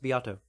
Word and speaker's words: Beato: guy named Rick beato spelled like Beto like beat like beat a drum and then an O at the end that's pronounced biato and look up his